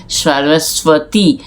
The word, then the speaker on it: সরস্বতী: সরস্বতী ইংরেজিতে বলা হয় সরস্বতী যখন বলা হচ্ছে তখন এই বটা এই বটা বাংলায় সাইলেন্ট ব এটা উচ্চারিত হয় না আর সরস্বতী হচ্ছে বিনা